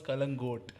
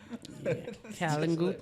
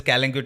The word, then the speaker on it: Kalangute: This is, I think, the greatest pronunciation errors that happen are where you see South Asian countries or Asian countries which are tourist destinations and they get white people coming in to those places. That is where all of this Kalangute and all of that happens.